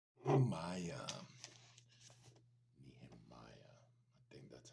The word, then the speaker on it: Nehemiah: Nehemiah.